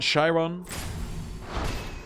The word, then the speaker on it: chyron: a point of pronunciation the a sound in Charmin and chyron at the I zone they solved very similar for me Sharan shy Ron or she rode that's a thing because there's an I in there I want to spell it ours chyron because that's usually what the eye implies and I sounds and when I do it